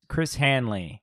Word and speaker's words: Chris Hanley: Okay, so now we're on to Chris Hanley. Not to be confused with Chris Hansen. No. Very did I guy.